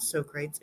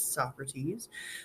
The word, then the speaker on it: Socrates: So his name is not Socrates, it's Socrates.